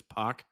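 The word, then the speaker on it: Poch: Because I don't think you say it like Potch, right? It's Puck.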